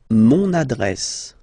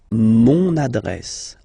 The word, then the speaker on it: mon adresse: use adjectif possessif masculin, mon adresse, my address, mon adresse, mon adresse. Okay, you can hear now this little link, so you get to pronounce this N.